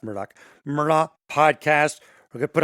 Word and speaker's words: Murdaugh: rolling it's murdoch podcast m-u-r-d-a-u-g-h even though it's pronounced murdoch merlot podcast we're gonna put up the family